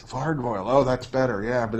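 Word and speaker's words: vargouille: out yeah uh well I always pronounced it vargoyle there's like gargoyles and vargoyle vargoyle oh that's better yeah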